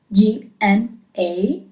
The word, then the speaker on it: gna: G-N-A is gna as a sound, gno, gna.